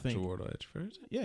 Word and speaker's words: Chiwetel Ejiofor: That's not Chiwetel Ejiofor, is it? Yeah, it's Chiwetel Ejiofor. Oh, that's how you pronounce that.